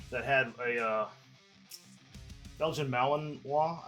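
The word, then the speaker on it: Malinois: had a uh Belgian Malinwa, I think is how you say it. Malininoa.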